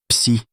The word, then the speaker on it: psi: Se prononce psi, c'est la fonction donde en mécanique quantique.